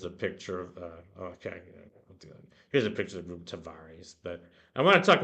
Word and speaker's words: Tavares: Not quite sure how to pronounce that. I think it's Tavares. It's not the Tavares, it's Tavares.